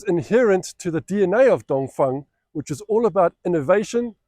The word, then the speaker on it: Dongfeng: It's spelt Dongfeng, but it's pronounced Dongfeng.